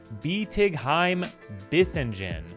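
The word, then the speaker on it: Bietigheim-Bissingen: not to butcher this it's pronounced beheim bisen or BB for short the park will incorporate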